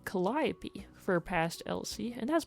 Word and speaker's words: Calliope: past was because, admittedly, the spelling is spelled kind of like Calliope. I didn't want readers to read that as Calliope, and then in my head I was like, everyone would call her Cantaloupe.